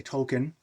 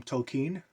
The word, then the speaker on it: Tolkien: Professor Tolkien J.R.R Tolkien Americans say token six and one half dozen of the other but in deference to is a native land I'll call him Tolkien now storytelling stories humans